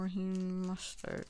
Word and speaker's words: Raheem Mostert: George Kittle and Raheem Mostert.